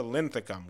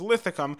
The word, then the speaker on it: Linthicum: city center, and then to Linthicum, which I frequently mispronounced as Lithicum in this entire video.